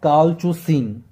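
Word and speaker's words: colchicine: आपका ये है तो इसका प्रोनाउंसिएशन है कॉलचुसिन।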